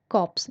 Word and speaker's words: corps: होती है कि आप ध्यान रखना कॉप्स इसमें आर साइलेंट है ऑफिसर डेड बॉडी इसका